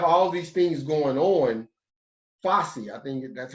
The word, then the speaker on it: Fauci: Fossey, I think that's how you pronounce his name. He came out, say it again. Dr. Anthony Fauci?